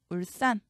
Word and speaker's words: 울산: 울산. 싼으로 소리 나지만 산으로 적습니다. 죽변.